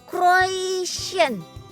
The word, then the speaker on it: croissant: Croissant, croissant, croissant. Ayo, siapa yang masih suka bingung cara nyebut kue yang satu ini? Pastry asal Prancis ini memang bikin bingung ya cara bacanya. Tapi yang paling benar itu croissant.